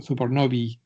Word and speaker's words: supernovae: usa en inglés, de supernova. En inglés, el plural de supernova es supernovae, o sea, supernovi, se pronunciaría en inglés.